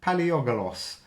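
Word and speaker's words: Palaiologos: it is Andrew Conyers two or the second paleogolos there we go that's how you say his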